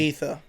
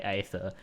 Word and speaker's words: Aether: Everyone calls it the ether. Okay, good, because I was going out of my way to say aether when ether comes more naturally.